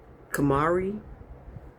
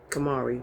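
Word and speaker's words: Khamrah: This is called Kamari. Kamari. So, it's spelled K H A M R A H.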